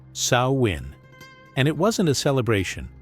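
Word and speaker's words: Samhain: They called it Samhine, pronounced Sawin.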